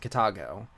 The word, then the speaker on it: Kitago: And of course, you know, I cannot talk about the manga without talking about the art by Kai Kitago. That's how you pronounce it, Kitago.